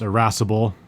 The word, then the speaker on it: irascible: get on to our first word which is irascible say it with me this is a very fun word to say irascible it's spelled ira SC ib le that's IRAs IC